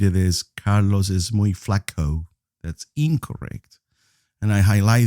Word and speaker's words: flaco: Flaco. Please make sure that the O is pronounced like an O. Do not pronounce it as an O. That sound doesn't exist in Spanish.